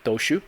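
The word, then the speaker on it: Dociu: Daniel Doshu, last name is spelled D-O-C-I-U. I think I got it right. Yeah, Doshu.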